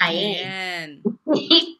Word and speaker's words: Cyan: Wait, how do you say her name again? Cayenne. Is it Cayenne? No, it's like cars. So that's like, oh, see what? Oh, that's Cayenne. That's a good way to put it. Boujee herself, 24k subscribers.